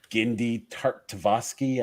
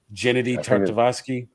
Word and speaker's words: Gennady Tartakovsky: If you go to, is it Gendy Tartakovsky? I can't say his name. I don't want to butcher it. I apologize. Gennady Tartakovsky.